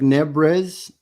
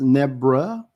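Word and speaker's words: Nebres: It looks like Nebrez. He's Filipino, but it's pronounced Nebra.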